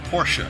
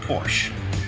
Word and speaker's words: Porsche: jaguar or a Jaguar Porsche is pronounced Porsche two syllables not Porsche the benefits of this